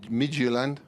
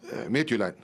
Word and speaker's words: Midtjylland: They play in Denmark tomorrow, FC Midtjylland. Is that the correct pronunciation? No, I was trying to do an English version of that. How do you say it then? Yeah, Midtjylland.